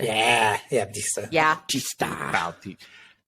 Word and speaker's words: Bautista: Wow, that is Batista. Yeah, Batista. Yeah. Bautista. I know that's how you actually pronounce his name.